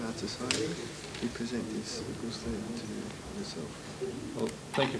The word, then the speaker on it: gusle: present an instrument which I am told is pronounced a gusle.